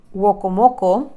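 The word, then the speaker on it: Werowocomoco: el pueblo del tío de Matoaka, llegan a Wokomoko, así se pronuncia, así se llama el pueblo, no lo estoy inventando, que es donde lo estaba esperando Powhatan, el papá de Matoaka.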